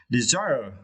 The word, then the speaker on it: desire: was as you need to extract the second syllable design okay desire desire desire is being a strong risk to